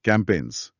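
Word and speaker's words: campaigns: कैमपेस। इसमें ना एक साइलेंट जी है। सी ए एम पी ए आई जी एन एस। अच्छा ए आई जी एन वाला। हां वही। जी लिखते हैं पर बोलते नहीं।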